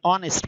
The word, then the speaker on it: honest: Words honor, honest, and air begin with a vowel sound. Is the initial consonant H is not pronounced.